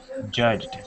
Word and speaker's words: judged: oh my throat's vibrating judged so that's a voice sound so it's just get